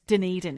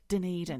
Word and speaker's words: Dunedin: It's Dunedin, is it? Dunedin. Dunedin. Right. Dunedin. I mean, you could look at it and think it was pronounced Dunedin or Dunedin.